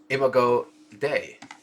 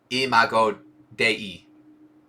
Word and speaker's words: imago Dei: Humanity as pixel, a funkified imago Dei. Let's Google that. M-H-O-D-I. Oh, interesting. It is Latin for the image of God. How do I pronounce that? Oh, there it was. Pronunciation. Imago Dei.